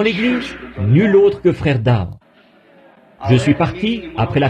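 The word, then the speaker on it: Daugh: Mais moi, je le prononce simplement Dow, vous voyez.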